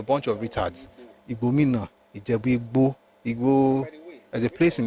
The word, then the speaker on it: Igbo: And the pronunciation itself is never Igbo. It's Igbo.